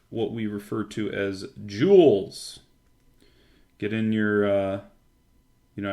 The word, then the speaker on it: joule: about jewels and class this is spelled J o u L e a jewel okay that's how you